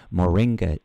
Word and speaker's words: moringa: was a tea that I hope I can pronounce this correctly Moringa tea am I am I getting that right